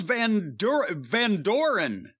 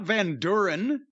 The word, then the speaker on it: Van Doren: Charles Van Doren, not Van Duren.